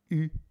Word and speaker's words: eu: Notice the past participle is pronounced eu, I have had, j'ai eu.